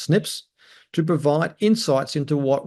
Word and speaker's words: SNPs: what they call Snips snps which it's pronounced Snips to provide insights into